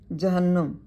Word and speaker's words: جہنم: مکسور ہے، رے ساکن ہے۔ جہنم، جیم اور ہے پر زبر، نون مشدد مفتوح ہے۔ چہلم، لام پر پیش